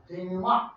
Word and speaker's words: denouement: You all say denouement. Denouement. Good. Very good. It's a little bit weird because it doesn't doesn't sound like how it's spelled, okay?